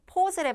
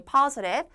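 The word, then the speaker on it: positive: 의미가 되죠 tested postive 발음도 퍼주다 할 때 퍼요 여러분들 평순 모음에 입을 벌려야 되는 포스랩 아니 퍼랩 퍼랩 그다음 여자 확진 사례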